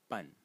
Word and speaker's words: 半: which is led by the Title fonetic Character pronounced pun but and the fourth tone and its meaning